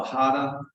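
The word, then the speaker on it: 腹: arts is called the hada spelled h-a-r-a but the r is pronounced like a d and my intuitive daughter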